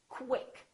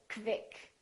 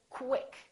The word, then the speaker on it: quick: When we have words that are spelled with Q-U, they're pronounced as K-W. So there's a little W sound in here. So I want you to say quick.